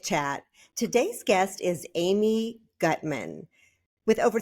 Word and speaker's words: Gutman: Gutman?